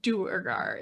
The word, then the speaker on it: duergar: I have, because beforehand Trovus said Dwegar and I said Duergar. Which one do you say? I say Dwerger, but we got 3 of them. I know. The Forgotten Realms wiki, I checked the pronunciation guide just now. It says Duergar is correct.